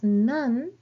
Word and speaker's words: 何: So the same question word, what, when it is pronounced as nan, it is used immediately before des, like nan desu ka, or immediately before counters.